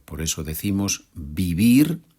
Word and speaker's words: vivir: Ya sabemos que la V, o también llamada B corta, se pronuncia como B en español. Por eso decimos vivir y no vivir.